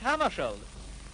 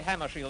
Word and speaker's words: Hammarskjöld: Well, I pronounce it myself in Swedish, Hammarskjöld. But if you say Hammarskjöld, that's all right with me.